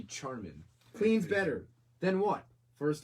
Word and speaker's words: Charmin: Spelled with CH, not SH, so it should be Charmin.